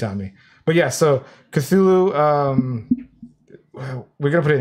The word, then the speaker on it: Cthulhu: It's Cthulhu.